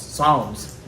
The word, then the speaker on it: psalms: people read the songs psalms right it's spelled with a p but it's apparently it's silent so david reached that